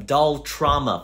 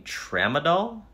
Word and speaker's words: Tramadol: anxiety Cymbalta great anything else I take some dull trauma for my pain do you mean Tramadol what did I say okay sir and are